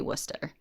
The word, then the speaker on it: Worcester: in Mass okay and it looks visually like Worchester I don't know how it's pronounced but in Mass we say Worcester it's Worcester it has to be I